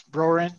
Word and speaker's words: Broeren: Well, I'm Broeren, easy to pronounce, Broeren. Just ignore that weird E in the middle. It trips people up every time.